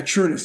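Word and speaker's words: Trunnis: of abuse at the hands of your father, Trueness. Am I saying it correctly? Yeah, Trueness.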